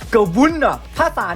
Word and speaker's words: G'vunna: จาก ให้ ก่อน นะ พี่ จะ ออก เสียง ควัน หน้า ให้ มัน ง่าย นะ แต่ ว่า ถ้า native ลิกเกอร์ พูด จริง ๆ จะ เรียก ว่า กลุ่ม วุ้น ล่ะ ถ้า ตอน นี้